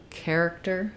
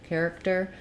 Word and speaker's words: character: just one correct pronunciation we have first syllable stress letters AR character character um have the air diphthong so I'll rewrite that with the word air and a k sound care um character